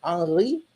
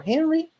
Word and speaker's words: Henri: don't see Heinrich Heine, but you see Henri Heine, with even the pronunciation that he would have in French for his name, but he's actually German.